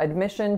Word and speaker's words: admission: so you applied for admission to a given school so the first syllable is schwa second syllable is our winner it's a lacks it and then the third syllable is a schwa again admission the next word